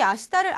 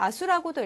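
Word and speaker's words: 明日: 자, 제가 이 아시다를 아수라고도 읽었는데요. 이처럼 이 내일을 뜻하는 한자 똑같이 이 명자와 일자를 써서 내일이라고 우리나라 말로는 하는데 일본어에서는 아시다라고 하는 경우도 있고 아수라고 읽는 경우도 있습니다.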